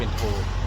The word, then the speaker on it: โท: อังกฤษ นั่น นะ ครับ แล้ว ก็ ออก เสียง เป็น เอก โท ตี นะ ครับ ก็ เป็น โท นะ ครับ ร้าน อยู่ ที่